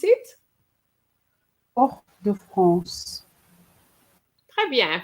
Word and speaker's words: Fort-de-France: Rihanna, can you pronounce it? Fort-de-France. Très bien, Fort-de-France.